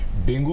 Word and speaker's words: dengue: Pronunciation की बात है, कुछ लोग डेंगी बोलते हैं, कुछ लोग डेंगी बोलते हैं, कुछ लोग डेंगू बोलते हैं। मगर अगर आप वेबस्टर की डिक्शनरी में देखें तो जो अगर प्रोनाउंसिएशन करेक्ट है वो डेंगी है।